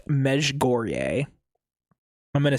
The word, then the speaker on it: Mezhgorye: So, it's pronounced Meg Goreier. I'm going to say it with a really American accent because I'm not going to keep doing the whole Mesh Gore. Mesh Goreier.